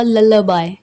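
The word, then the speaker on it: lullaby: आई am singing a लला बाय इसे लला बाय pronounce करेंगे मैं लोरी सुना रही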